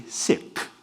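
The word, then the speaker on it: ਸਿੱਖ: I thought okay well the correct pronunciation of sik is actually siik right I think if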